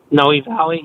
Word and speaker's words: Noe Valley: valley neighborhood is that how you say it noe valley yeah that's that's that's not near discovery bay